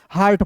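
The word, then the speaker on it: heart: तो याद रखना जब दो वोवेल एक साथ रह रहेगा तो ए को हम लोग साइलेंट करते हैं। तो यहां पे ए के लिए आ की मात्रा लगाएंगे और यहां पे टी का ट और आर है तो रेफ लगा देंगे। हो जाएगा एच ई ए आर टी क्या पढ़ेंगे दोस्तों? हार्ट पढ़ेंगे।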